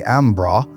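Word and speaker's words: Embarras: There's a railroad bridge acrossing the Embaris River. The locals pronounce it the Ambra about 10 mi west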